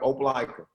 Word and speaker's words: Opelika: I know you're from Opelika, right? Did I say it right? Yep, Opelika.